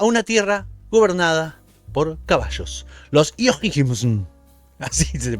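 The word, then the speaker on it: Houyhnhnms: Losims, así se pronuncian, así los críticos lo llaman la ciudad de los caballos, la el país de los caballos dotados de razón.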